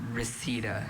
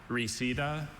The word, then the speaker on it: reseda: Okay, reseda. Can you repeat both pronunciations? Reseda and Reseda.